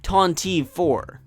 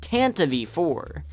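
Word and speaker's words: Tantive IV: it incorrectly all my life I used to pronounce it ton 4 but this isn't the only incorrect pronunciation I've heard tonti tan tonti and tantive but none of them are right this vehicle is pronounced Tanta V4 this has been made clear in the 1981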